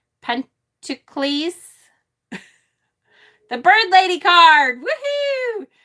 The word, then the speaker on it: pentacles: we're back to pentacles pentacles needs to be pronounced like hercules pentacles the bird lady card